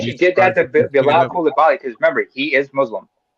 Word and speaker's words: Coulibaly: By the way, it's pronounced Coulibaly.